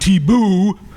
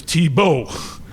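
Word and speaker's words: Tiebout: It's not Thibault, it's Thibault. Dutch, not French.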